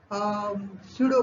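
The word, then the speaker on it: pseudo: पी नहीं भी लिखा तो भी हम साइकोलॉजी कहेंगे, निमोनिया कहेंगे तो उसमें पी नहीं आता है, लेकिन यहाँ पर स्पेलिंग में लिखा रहता है स्यूडो, झूठा, तो ये पी यहाँ पर भी आता है। प्रोनाउंसिएशन हम स्यूडो करते हैं, लेकिन लिखते वक्त पी लिखते हैं।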